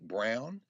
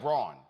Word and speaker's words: Braun: Did you see Mike Brown, the Indiana senator that said that perhaps the Supreme Court should have never legalized interracial marriage? Yeah, Senator Mike Braun. Mike Braun, yeah, Mike Braun. I'm sorry, I mispronounced.